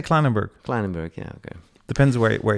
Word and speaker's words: Kleinenberg: Met Sander Kleinenberg, with Sander Klein.